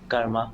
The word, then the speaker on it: karma: than anyone else so first of all it's not pronounced as comma it is called Curve